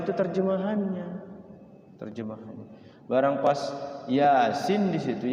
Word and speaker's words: Yasin: terjemahannya terjemahan barang pas Yasin di situ Yasin kan tulisannya ya a a sin bacanya Ya asin ya asin gitu karena bacanya bukan bukan bahasa Arabnya bukan tulisan Arabnya tulisan Latinnya gitu Yasin ya asin I